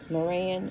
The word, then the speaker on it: Marans: And um It's spelled Maran. Maran, m a r a n. Uh And it's not called uh it's called after a French city.